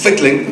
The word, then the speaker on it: Fickling: say it like this it's Fickling like tickling with an if which is like [